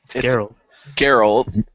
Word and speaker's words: Geralt: um so I don't know Gerald Gerald Gerald Geral Geral yeah I said it right umal so if